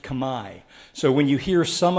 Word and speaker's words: Khmer: which by the way in cambodia is pronounced kamai it's spelled like you are familiar with khmer spelling khmer but it's pronounced kamai so when you hear